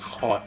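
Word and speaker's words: haute: get people to give you money you suggest pronounced hot by the way oh hot all right french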